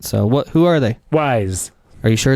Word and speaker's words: Wyze: Wyze. Are you sure it's Wyze? I am Wyze that it's Wyze. Okay. That's how wise I am.